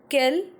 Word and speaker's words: quel: So in French there is 4 type of what: quel, and quel. The good thing is that the pronunciation of all the four words are quel only. Quel, quel, quel, quel. But the spellings are different.